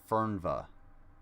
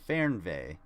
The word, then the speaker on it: Fernweh: e so that would be fern bay not fernva or fernweh you dumb so they have the the germans have this neat word fernvey okay and if you wanted to wanted it